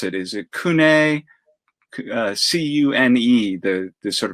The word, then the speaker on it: CUNE: their full name right it's like an acronym with all capital letters exactly though c-u-n-e c-u-n-e